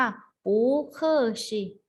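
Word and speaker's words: 不客气: ต้อง เกรง ใจ นะ คะ ออก เสียง ว่า หู เกอ สิ Google sheet นะ คะ ใช้ ต่อ กับ น้ำ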